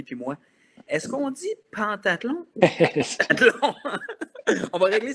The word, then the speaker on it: pentathlon: On dit bel et bien, ça s'écrit « pentathlon ». Mais ça se dit bel et bien en phonétique en français, pentathlon des neiges.